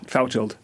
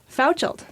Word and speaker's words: Fauchald: okay it's good to be the serious prounce pronounce your last name for me Fouch Fouch yeah okay in the studios of opv today